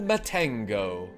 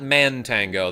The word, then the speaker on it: Matango: Use your magic on the orb in this forest to open the way to Matango. It's not Mantango. That's how I used to pronounce that when I was a child, too.